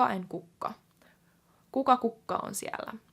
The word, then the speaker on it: kukka: So Kuka with 1K is who, and Kukka with 2Ks is flower. Now, the difference between them, especially when you're saying it in a normal conversation pace, is very tiny. Kuka and Kukka.